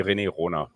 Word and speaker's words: René Rohner: pronounce your name first so in German it would be Rene Rona Rene Rona okay it's a little